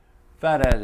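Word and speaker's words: Phat Az: Fat Az is spelled P-H-A-T, by the way, A-Z.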